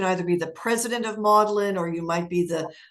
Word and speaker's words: Magdalen: part of the Oxford um universe is that Maudlin is how you pronounce it yes it's not Magdalene it's modern yeah exactly it's funny you should